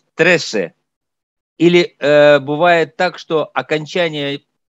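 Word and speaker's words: trece: Например, я скажу «три» – «трес» и «тринадцать» – «тресе». Или бывает так, что окончание кто-то не произносит и говорит «трес».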